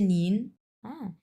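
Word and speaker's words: 您: number ton এটা আপু এটা কিন্তু আমরা বলি নিন বড়দেরকে সেটা যেই যার বড় হোক যেমন আপনি আমার বড় স আমি আপনাকে অবশ্যই বলব নিন তখন কিন্তু আমি নি বলব না আচ্ছা নিন মানে হচ্ছে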